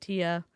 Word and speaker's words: Thea: Let's Before we start with Tia, she spells her name T H EA. She pronounces it Tia.